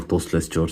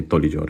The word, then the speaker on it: Tous Les Jours: लेकर आऊँ ये है तोलीजोर बाय तोलीजोर डे 66। तोलीजोर का मैंने पहले भी, अब मुझे नहीं पता इसको तोलीजोर क्यों कहते हैं, मैं तोसलेस जोर समझता था, लेकिन ये तोलीजोर है।